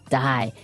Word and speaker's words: dye: Dye. So it's pronounced exactly the same way as, you know, to dye to not live anymore.